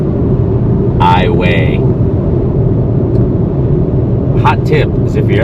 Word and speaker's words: Iowa: rest of the world it's Iowa but here in Louisiana we pronounce it iway hot tip is if